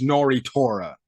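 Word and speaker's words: Nnoitra: watched somebody's video of how to pronounce the name it's nori torah my gosh whatever um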